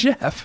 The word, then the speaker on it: Geoff: When have you ever seen Geoff pronounced Geoff? I don't know. In It's Jeff.